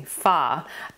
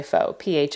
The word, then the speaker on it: pho: then I made a faux or excuse me fa base um which is a is it Korean I think it's a Korean soup I would say fox pH but it's pronounced fa I actually made four